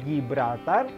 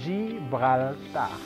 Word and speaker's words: Gibraltar: dibaca sih bekal tanda bukan Gibraltar bukan juga seperti bahasa Inggris Gibraltar karena Zee Ini masuknya sama bunyi yang lembut zibrolta itu lihat ini saya